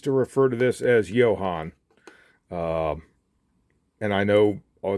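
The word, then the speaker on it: Jo-Han: let you know that that's the incorrect pronunciation it's actually a contraction of the guy who started the company John Hanley so that's contraction of his name so it is Johann so but uh that's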